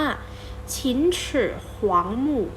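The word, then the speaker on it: 秦始皇陵: ฮ่องเต้ นะ คะ ภาษา จีน ออก เสียง ว่า ชิ้น หวง หมู่ ชิ้น เชอ หวัง หมู่ อ่ะ ผู้ ตาม ชุด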